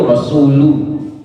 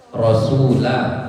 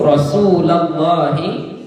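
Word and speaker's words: رسولَ الله: bacanya tengok bacanya Ya yang biasa orang salah baca itu samitu rasulu bukan Rasul tapi rasula ya samu rasulallahi karena nantiabnya menjadi Maul Maul Bih ya inamalti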